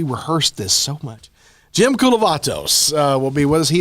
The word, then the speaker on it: Koulovatos: Jim Koulovatos will be with us.